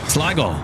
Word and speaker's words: Sligo: So, how do you pronounce Sligo? Is it Sligo? Sligo.